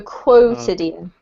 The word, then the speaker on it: quotidian: In English, we have the qu sound, so quotidian. Yeah. Okay. Okay, thank you. Sort of like the word quota.